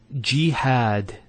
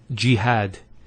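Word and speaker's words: جهاد: So we have here G, that's the first syllable, and then had, jihad. So you notice here we have a fatha on the ha followed by the alif, and that gives the elongation of the A sound.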